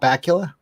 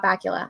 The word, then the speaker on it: Bakula: the hell do you say his name scott bakula yes scott bakula i always pronounce it wrong scarbacula's autograph for me because